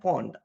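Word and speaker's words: pwned: us guys okay so this is pronounced as Pond okay uh Hawaii pinpond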